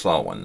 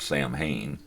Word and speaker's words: Samhain: of Halloween stem from Sinn and yes it's pronounced SN not Sam Hayne despite what some American TV shows would have